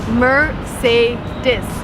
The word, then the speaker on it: Mercedes: the world is called Mercedes remember Murr say this is ma Mercedes is a car coat